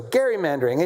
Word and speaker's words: gerrymandering: from Massachusetts who uh gave rise to the word gerrymandering which is how we say it. His name was Gary. So gerrymandering, a nationwide gerrymandering war is now in effect because of us, right?